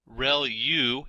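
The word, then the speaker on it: ReLU: there are multiple hidden layers like convolution layer real U is how that is pronounced when that's the rec linear unit that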